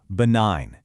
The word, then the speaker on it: benign: Listen to that again. Benign. See? No G sound at all. This is another one of those historical clues, and it links the word to its cousins, like benignant, where that G sound comes back to life.